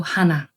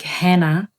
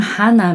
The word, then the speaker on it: Hana: and Europeans might said Hannah, but it's actually a pure Korean name. You know how you count one, two, three in Korean? It's Hana to set. So, my name Hana means one and only in Korean.